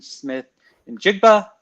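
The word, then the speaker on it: Smith-Njigba: And so we're going with Jackson Smith and Jigba. Did I pronounce his last name right?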